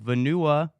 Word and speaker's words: Vanuatu: Vanuatu. Yep, that's exactly how you pronounce it.